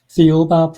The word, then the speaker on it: Thiaoouba: about um a book and how do you pronounce the book again? Theoba Prophecy.